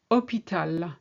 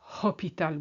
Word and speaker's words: hôpital: Hôpital, not hôpital. We don't pronounce the H.